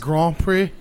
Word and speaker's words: Grand Prix: My question goes to you: whoever loses, It's pronounced Grand Prix.